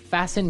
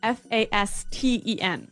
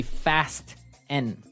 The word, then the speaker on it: fasten: It's spelt F-A-S-T-E-N. Right, so it would be fast N. No. No, right? Fasten. Fasten. The T Fasten. kind of becomes silent.